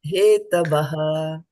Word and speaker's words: हेतवः: So when there is a H, then you have to pronounce the H also.